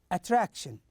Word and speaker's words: attraction: the third example of the stress on the second syllable is attraction attraction so here we stress